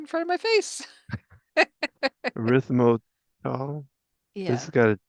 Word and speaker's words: erythritol: Erythritol.